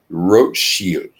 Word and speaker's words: Rothschild: the name red shield in the German language it is pronounced Roche shield spelled Rothschild so the